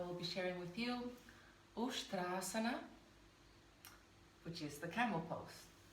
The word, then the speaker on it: Uṣṭrāsana: So a lot of people here in the West say Uṣṭrāsana or like Uṣṭrāsana. It's Uṣṭrāsana. So yes, so that's the correct pronunciation of the term.